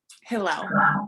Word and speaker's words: Hillel: So how long have you been the leader of the Simmons Sirens and the president of Simmons Hill? Did I pronounce that correctly? Hillel.